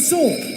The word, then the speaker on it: sword: Again, no W. Not sword. Sword. It's sword. Sword. Only sword. Perfect. Did you Did you know that? Did you know that in this word the W um is silent?